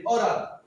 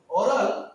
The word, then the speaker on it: aural: অরাল, AURAL অরাল। অরাল মানে শোনার সাথে সম্বন্ধ, ইয়ারের সাথে সম্বন্ধ, অর্থাৎ কানের সাথে যখন কোনো সম্বন্ধ হচ্ছে তখন AURAL অরাল।